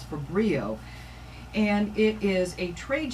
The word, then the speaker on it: Fabrio: The word you need to remember is Fabrio. Fabrio, Gary White said to me multiple times from Tridec so that I would say it properly. I won't even tell you the way other people are saying it, but the proper way is Fabrio.